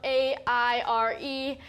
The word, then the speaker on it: Aire: name is air spelled a-i-r-e and if you're having trouble pronouncing it Scott said quote it's pronounced air like billionaires unquote last February the